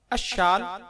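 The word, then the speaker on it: عشال: جواب: اشال عین پر زبر اور شین پر تشدید کے ساتھ عربی زبان کا لفظ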